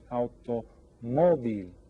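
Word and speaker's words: automóvil: This o is going to be accented because we pronounce alto moil.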